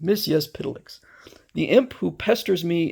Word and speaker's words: Mxyzptlk: Mxyzptlk, which I pronounce it based on what I had been told in a book is the way to pronounce it. Mxyzptlk.